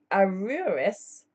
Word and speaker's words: Aroueris: Several authors have attempted to prove that Isis, Osiris, Typhon, Nephthys, and Aruris, that's spelled Aroueris, in brackets, Thoth or Mercury, were grandchildren of the great Jewish patriarch Noah by his son Ham.